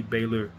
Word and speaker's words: Baylor: but bra Baylor shyan I don't know why I keep calling him Brer I think the first person I heard say his name said Brer and haven't been able to get out of my mind but it's Baylor like elen Baylor Baylor shyan trenden flowers